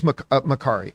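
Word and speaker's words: Makkari: Oh, some people in the live chat are saying it is Makari.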